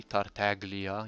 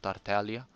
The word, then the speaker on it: Tartaglia: monsters with ease it's nice that they actually pronounce the g tartaglia instead of tartalia i am confident that